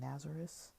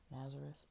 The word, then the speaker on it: Nazareth: I think I was pronouncing it wrong. I was saying Nazareth. Yeah, that didn't feel right. But yeah, Nazareth. So yeah, we're definitely going to get more into this.